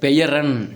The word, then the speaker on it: பெயரன்: அடுத்து பேரன் கிடையாது, பெயரன் இந்த இருக்குது பாருங்கள்.